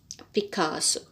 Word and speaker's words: Picasso: picasso uh picasso uh the pronunciation is picasso so he was a